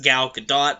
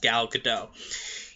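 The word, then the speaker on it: Gal Gadot: g a d o t it looks like gal GD do but it's pronounced gal gdau you her most recent work she was in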